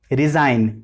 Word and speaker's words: resign: RESIGN, रिजाइन। रिजाइन होता है पर यहाँ पे जी की आवाज नहीं आती है, तो ये क्या होता है?